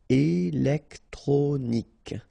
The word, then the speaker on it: électronique: Okay, so k at the end. Remember, Q-U-E at the end. K. Électronique.